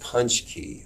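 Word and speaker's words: pączki: tuesday with a big punch key parade as well so it's pronounced punch key these donuts they're polish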